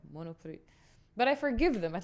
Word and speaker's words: Monoprix: it sounds nice, but Monoprix, the X is silent in French. And it used to piss me off when I hear people, you went to Monoprix? I'm like, Monoprix.